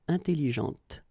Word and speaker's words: intelligente: also in that case with an adjective, okay, intelligente. Same thing here. When you put this well, actually you will pronounce the final T, okay, but you don't pronounce this here. Intelligente.